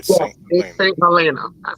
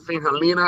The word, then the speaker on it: St. Helena: Yeah, St. Helena. I pronounce it St. Helena, and some other people do too, but St. Helena.